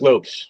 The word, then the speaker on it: Lopes: Is it Mark Lopes or Lopez? But Metal Church does have a new lead singer. Mark Lopes, yes.